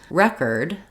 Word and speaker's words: record: Record is stressed on the first syllable.